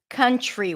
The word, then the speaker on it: country: So instead of pronouncing it up here, t, t, t, you pull the tongue in a little bit and you pronounce it further back, ch, ch, ch, and and then it becomes more of a ch sound.